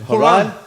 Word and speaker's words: Horan: How are they pronouncing the Bill. name? Horan. Oh, Horan. I like that, eh? Horan.